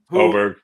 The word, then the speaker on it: Åberg: Rory at 12-1 with Ludwig Åberg. Åberg. You heard 84 different pronunciations of his name this weekend. Åberg's the correct one.